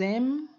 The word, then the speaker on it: aiment: M. Akhirannya ini tidak boleh diucapkan sama sekali, ya. Jadi j'aime, tu aimes, il aime, ini juga ils aiment.